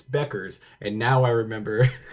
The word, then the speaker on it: Bueckers: And I was like, I I'm gonna say it and then it's not going to come out, but it's Beckers.